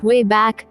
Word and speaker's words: WABAC: Willing throughout history using the WABAC, pronounced, way back, a time machine.